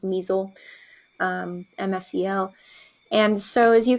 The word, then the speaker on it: MSEL: list it's called the abbreviation for it is pronounced Meisel msel and so as you can see like